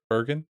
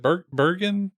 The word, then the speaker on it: Bergen: um Candice is it Bergen virgin virgin I don't remember I think it's a hard G when I've seen those names in the wild well she she comes